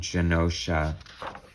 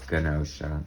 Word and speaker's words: Genosha: I always said it was Genosha, but then I think on the X-Men cartoon they were like Genosha, and I was like, oh crap, I've been pronouncing it wrong all this time.